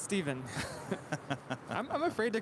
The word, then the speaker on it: Stephen: I was going to say, I'm pretty sure it's pronounced Steven.